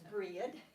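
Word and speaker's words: Bríd: Her name is Breed, and or in some places in Ireland, Bride, B-R-I-D-E, but I think that's pronounced Bridie, and that was 2 of her names.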